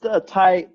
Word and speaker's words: Tighe: me at that email address awesome and that's ty TI GH e descry pronounced hi Rick type so thank you Rick